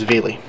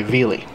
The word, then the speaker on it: Vili: hall of the front it'll say veli spelled v-i-l-i there are other ways of pronouncing it depending on what language language you're translating it in but the name stands